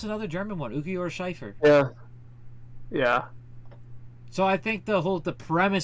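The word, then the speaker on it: Cifer: number four you have ukiora shifer which it's pronounced Schiffer but it's c-i-f-e-r so that is clearly a German pronunciation yes and then number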